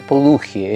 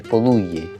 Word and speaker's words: Poduje: Poduye, fíjate que se pronuncia. Sí, para que sepa Iván que su apellido no es Poduje, es Poduye.